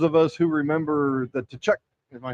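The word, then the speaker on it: Tkachuk: us who remember the Tachuk, am I saying it right? Tchuck family. Close enough. What's it really? The cat. I think it's Kachchuck. I think Kachchuck to T Silent.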